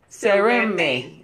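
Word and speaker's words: Seremein: And the N in that case is silent. Yurume. Yeah, it's silent. A-N. Yeah, yeah, yes. Yeah, exactly. And thank you. Sereme. Right. Sereme. Right. You don't pronounce the N.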